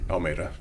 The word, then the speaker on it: Almeida: Almeida. Almeida. Yeah. Okay. So I keep on saying it like Almeida, like the city. Yeah, it's Almeida. But It's I mean, Almeida.